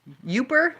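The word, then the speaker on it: Yooper: meant pastries not pasties yuper are you are you saying yuper or yupper because uh a yuper is somebody from the Upper Peninsula I know I think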